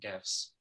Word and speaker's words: GIF: Particularly, the thing that obsessed me was the way people were using GIFs with a hard G.